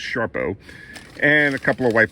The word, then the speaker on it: Sarpo: But as I said, got a bag of russets here, got some Sharpomira, spelled Sarpo, but pronounced Sharpo, and a couple of white potatoes.